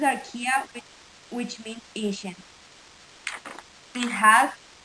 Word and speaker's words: Archaea: filamentos bacteria and gram positive then darkia the pronounces are kia which means ancient it has methanol genes allophiles